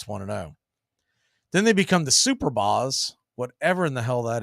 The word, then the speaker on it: Superbas: down below it's 2-0 b-a-s super boss superb as superbas maybe oh but even still one word okay superbas I don't know I always hear pronounced super boss but Superbus sounds more logical the 2-0 right there